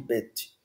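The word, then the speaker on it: בית: eu tenho aqui o Bet o Bet e o Vet Bet Vet porque quando está pontuado assim a gente chama qu pon no meio a gente chama de Bet quando está sem o ponto ainda que seja o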